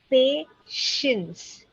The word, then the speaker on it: patience: patience. There is a sh Patience. sound there.